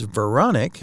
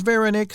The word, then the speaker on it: Verenice: I realized recently that I've been pronouncing her name as Veronic, but she says Verenice, so I'm going to go with that from now on.